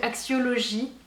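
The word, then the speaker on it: Axiology: don de la marque alors je vais la prononcer à la française parce que sinon je vais avoir ridicule comme d'habitude donc axiologie c'est une marque qui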